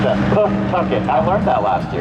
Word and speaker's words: Pawtucket: That's how you pronounce that. Pawtucket.